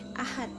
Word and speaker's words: Ahad: pada saat kita melafalkannya itu berbunyi teh Ahad mati Teh gitu Padahal tulisannya adalah Ahad berakhiran deh Kemudian pada saat kita melafalkan berakhiran pelafalan kita itu berakhiran teh ini ini ini salah